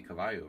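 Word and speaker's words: caballo: In Spanish it would be Cavayo, right?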